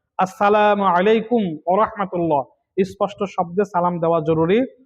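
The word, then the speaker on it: السلام عليكم ورحمة الله: সালামের উচ্চারণ সঠিকভাবে করা জরুরি। আসসালামু আলাইকুম, সালামু আলাইকুম, আসসালামু আলাইকুম, সালামু আলাইকুম ইত্যাদি বলা গুনাহ। স্পষ্ট করে বলতে হবে আসসালামু আলাইকুম ওয়া রাহমাতুল্লাহ।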